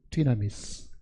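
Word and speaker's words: δύναμις: 그러니까 이게 헬라 발음대로 하면 이게 D라고 읽어야 되겠죠. 디나미스, 디나미트, 뭐 이거는 디나모 이렇게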